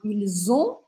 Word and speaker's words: ils ont: Então, presta bastante atenção na pronúncia. Por exemplo, quando eu falo ils ont, ou ils sont. Ils ont é eles têm. Ils sont, eles são.